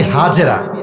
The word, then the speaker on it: হাজার: বউয়ের নাম বিবি হাজার। নাম কি বলেন সবাই? আমরা বলি বিবি হাজেরা, এটা সঠিক উচ্চারণ না, আরবি উচ্চারণ হচ্ছে বিবি হাজার।